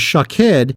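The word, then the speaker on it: שָׁקֵד: variation on the pronunciation almond is shakhed and watches shook head but if you were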